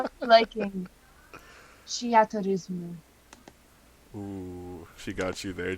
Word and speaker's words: Theatrhythm: I say Theatrhythm.